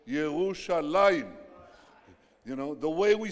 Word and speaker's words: ירושלים: It says, it doesn't say Jerusalem, it says Yerushalayim.